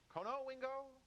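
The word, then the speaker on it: Conowingo: Where's Kanoingo? Is that how you say it? Yeah. Konowingo. Mhm.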